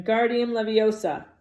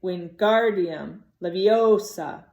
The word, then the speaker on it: Wingardium Leviosa: arms like a windmill you're saying it wrong Harry heard with Hermione snap its Wingardium Leviosa make the guard nice and loud you do it then